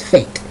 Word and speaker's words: fate: such as fat, at, add an E at the end. That E tells you now pronounce the A like A, so it's fate.